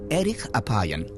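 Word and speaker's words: ארך אפים: En hebreo, la frase lento para la ira se pronuncia erich apayan, literalmente de larga nariz.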